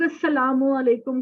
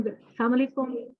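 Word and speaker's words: السلام عليكم: एक छोटी सी बात आपके साथ, हम लोग अस्सलामु अलैकुम को सही प्रोनाउंस नहीं करते। अस्सलामु अलैकुम, अस्सलामु अलैकुम का मतलब है आप पर खुदा की सलामती हो। हम लोग बिला सोचे समझे हम अस्सलाम वालेकुम ऐसे भी बोलते हैं,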